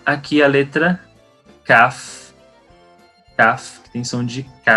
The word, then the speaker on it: Kaf: E aqui nós temos a letra Kaf com dagesh, que sem dagesh ela vai ter a mesma pronúncia da letra Het, vai ser H.